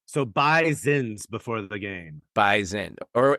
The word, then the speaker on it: Bison: it's a bison and it's spelled bison but it's pronounced B Zen so B Zin before the game baen